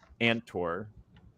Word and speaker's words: Andtor: we're going to go onto the Battlescroll of Andtor.